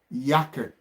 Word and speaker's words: Jacke: You know, you put it Jacke, yake, yake, yake, D yake.